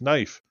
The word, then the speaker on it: knife: or not or knife it's not knife it's knife why do we have a silent letter where does that come